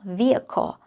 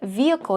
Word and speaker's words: vehicle: have to say uh I have to say that vehicle here usually for American English and British English you can pronounce vehicle vehicle uh but also in American English just in American English you can pronounce vehicle vehicle that is still okay but usually people will pronounce vehicle now here examples 1